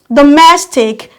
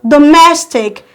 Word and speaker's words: domestic: syllable also without icn domestic come from the back one two we have mess let your force be on mess we go domestic and we have gigantic